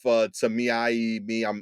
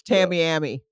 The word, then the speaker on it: Tamiami: I think that was a bit more, to Yeah, Circle K gas station on South Tamiai. I'm mispronouncing it every I think time. that's Tamiami. Tamiami.